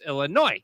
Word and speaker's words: Illinois: boys see people call Boise when it's actually pronounced boy C Illinois is not then you know you're a tourist it's Illinois so but my mom's name is Linda and